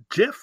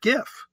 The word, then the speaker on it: GIF: it's he was saying it's um Jif not gif but if consensus is